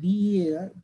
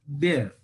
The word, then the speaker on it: bear: One thing, actually, B-double-E-R, we say beer, but B-E-A-R, bear, okay?